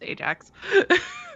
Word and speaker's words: Ajax: But I don't remember who AS is, and it's Ajax. That's how it's supposed to be pronounced.